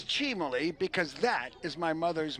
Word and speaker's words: Cimoli: Gino Cimoli was an all-star with the Pittsburgh Pirates, played in the 1960 World Series, and everyone pronounced his name Cimoli. But I can guarantee you it's Cimoli because that is my mother's maiden name.